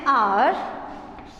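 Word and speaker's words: hour: Because H is silent here.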